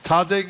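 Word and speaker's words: Tahdig: I was so enamored of something I'd never heard of before, and I may mispronounce it, so correct me. Tadig, is that how you say it?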